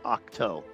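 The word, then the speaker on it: Ahch-To: Um, by the way, by the way, the the the planet he's hiding out on is actually pronounced Octo.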